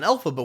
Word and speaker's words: Elphaba: And this gets Elphaba dreaming about meeting the wizard because she heard